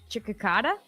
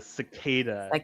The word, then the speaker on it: cicada: What is a What is a cha chicada? A what? Chicada. You are saying it wrong, but you are correct. is a cicada.